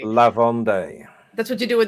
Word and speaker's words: Vendée: Vendée. Vendée. La Vendée. That's what you do when there's two E's and one. The first one has an accent. Day.